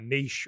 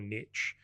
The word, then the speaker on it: niche: We know what we're talking about, niche or niche. And I love this saying. There's a reason why niche rhymes with rich.